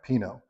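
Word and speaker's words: Pinot Noir: right so first up let's learn how to say panut Noir peanut noer peanut new how do you say this word no one knows how to say it well if you get in that sticky situation and you're just not comfortable with it try Pino most people will know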